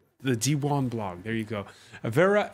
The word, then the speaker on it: Diwan: Did I pronounce that correctly? The Diwan blog.